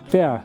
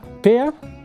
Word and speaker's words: Pär: But I can't pronounce his name. Pär. Pär?